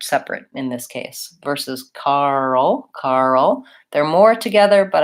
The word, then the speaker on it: Karl: and early are different so Karl has a dark L at the end so it's almost like two syllables just like girl her